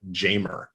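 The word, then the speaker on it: Jeimer: looked it up forever i thought it was uh hymer candelario right and that's what it was and then i remember before the pandemic i was watching one of the games and he actually pronounces it jamer yeah candelario just a little fun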